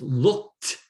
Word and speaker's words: looked: The ending, and it's looked. It's pronounced like a T.